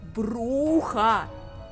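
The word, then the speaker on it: Brujah: По поводу того, как правильно произносить Бруджа или Бруха. Конечно, я понимаю, что эта игра вышла куда раньше, чем... Ну, на 4 года, чем Bloodlines. Но Джек, просто, я не знаю, по слогам чуть ли не произносит то, что Бруха!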